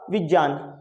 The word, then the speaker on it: विज्ञान: करें क्योंकि आप देखे इसमें ग का साउंड कहीं पर भी नहीं होता है। इसका जो सही प्रोनाउन्सिएशन जो होगा वो होगा विज्ञान।